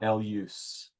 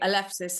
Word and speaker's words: Elefsis: And by the way, Maria pronounces it Elef, not Elus, Elef, right? Elefsinian, or perhaps you could correct my, is I say Elefsis and Elefsinian.